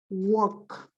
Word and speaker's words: walk: You see, the combination of A, L, K becomes ok. Walk.